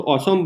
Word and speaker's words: असम: लोग थोड़ा, वहाँ पे लोग क्या आ को ओ बोलते हैं, ओ का प्रोनाउंसिएशन आता है, तो असम बोलते हैं वो लोग।